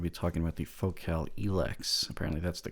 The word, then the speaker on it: Elex: I'm going to be talking about the focal elex apparently that's the correct pronunciation I'm usually one to get the pronunciation